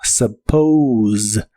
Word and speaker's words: suppose: La u se pronuncia como una a suave y la o se pronuncia como o u. La s suena vibrante como si fuera la Z de inglés y suena como suppose suppose.